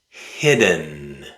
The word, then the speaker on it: hidden: hidden hidden hidden Let's say it again, but this time let's replace the D with a glottal stop. Stop the air in your throat after the letter I. Then release the air making the sound nn nn That's the sound the letter N makes.